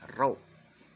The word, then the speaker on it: rho: Nih, rho ini membacanya rho. Tulisannya adalah RHO. Saya ulangi, ini membacanya rho atau massa jenis, tulisannya RHO, di mana rho sama dengan massa dibagi volume.